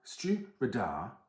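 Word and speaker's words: Stiùireadair: a peat bomb now Stu radar which is how you pronounce this hopefully I have that correct I do keep trying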